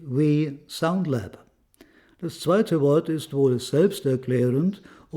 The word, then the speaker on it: We: It's called We Soundlab. The second word is pretty self-explanatory, and the first syllable is immediately clear when you know that the friendly owner, Mr. Tavisak, has the first name We.